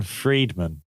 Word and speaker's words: Friedman: What I found funny, though, is that Dean Friedman is spelled, and he did this song about loving a McDonald's girl.